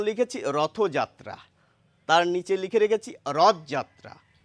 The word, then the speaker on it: রথযাত্রা: উচ্চারণ লিখেছি রথযাত্রা। তার নিচে লিখে রেখেছি রথযাত্রা। তো আমরা যখন রথ নামক শব্দটি আলাদাভাবে বলি তখন কিন্তু রথই বলি। কখনো বলি না রথ।